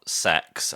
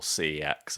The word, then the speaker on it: CeX: Um because the thing is you think about sex as it's pronounced or CEX as we prefer to pronounce it.